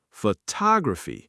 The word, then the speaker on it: photography: Photograph, stress on the first. Photography, stress on the second. Photographic, stress on the third.